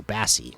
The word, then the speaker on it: Bassie: basy by the way my name is a as an apple okay so the a as an Apple so Bassie that's how you pronounce the name awesome thanks man for